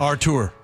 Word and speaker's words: Arthur: Also from Arthur in Kent. I think it's Arthur. Maybe it's Arthur. I don't know. But it's spelled Arthur in the system. Artur. Thank you. Artur.